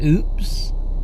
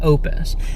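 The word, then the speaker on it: Oupes: brand is called Opus it looks like it's pronounced oops like oops like o o PS but apparently it's pronounced Opus I know that because I've been watching watching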